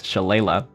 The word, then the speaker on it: Shalala: not that hard donna shalala there was a lot of names i didn't know i wonder if i'm pronouncing it wrong i am it's shalala looks a lot like sha la la but shala um naomi klein